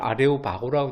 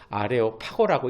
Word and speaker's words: 아레오파고: 우리 성경에는 아레오바고라고 되어 있지만 정확한 발음은 아레오파고라고 읽는 것이 맞습니다. 왜 여기로 이끌어갔을까요?